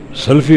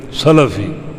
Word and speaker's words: سلفی: اصلاح بھی مقصود ہے۔ ہم کہتے ہیں فلاں سلفی ہے، سلفی غلط ہے، سلفی لام کی زبر کے ساتھ فلاں سلفی ہے، ان